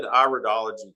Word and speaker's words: iridology: you is that you you said iridology correct a lot of people mispronounce it and call it iridology and so I always